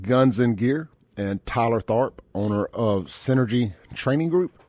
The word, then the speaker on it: Tharp: Here in the studio with me, we got Hunter Sartain, owner of Guns and Gear, and Tyler Tharp, owner of Synergy Training Group.